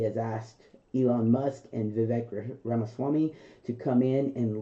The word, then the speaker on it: Vivek: It's Vivek, like cake.